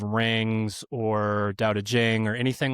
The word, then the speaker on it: Dao De Jing: So if you are trying to buy this or download it, it is phonetically Tao Te Ching, Taoteching, but it's pronounced Dao De Jing.